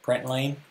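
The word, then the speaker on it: println: I pronounce it like lane, I don't know. Print lane?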